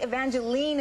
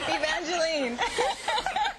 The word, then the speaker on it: Evangeline: you know I think evangelene is more a Canadian expression or or or um pronunciation of the name because here everyone wants to call me Evangeline is that right and